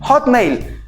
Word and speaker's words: Hotmail: See how we pronounce the “O” in Spanish We pronounce the vowels in the mouth: “Oh”... In English we need to pull it back down here again... ... HO... HO... To say: HOT HOTMAIL Good.